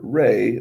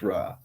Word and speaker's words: Ra: It was Egypt's largest temple, and it's mainly to honor Re, the sun god, or Ra. Sometimes you hear it pronounced Ra.